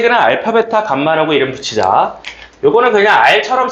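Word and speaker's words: γ: 자, 3차 방정식의 세 개는 알파, 베타, 감마라고 이름 붙이자. 요거는 그냥 r처럼 쓰고 감마라고 읽으시면 됩니다.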